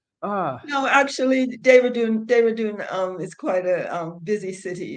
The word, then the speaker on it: Dehradun: Denhara? How do you I say live it? in Dehradun.